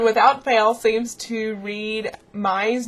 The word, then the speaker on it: Mai: So everyone, without fail, seems to read Mai's name wrong. It's Mai, M-A-I. It's not May, and it's not Mia, but Mai, as in chai tea latte. Chai, Mai. And then Erie's name is like Lake Erie.